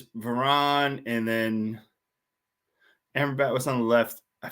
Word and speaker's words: Amrabat: But I've just been trying to pronounce Amrabat because I've been calling him Armabat since he got United. I've just realised when you said it, I've been saying it wrong.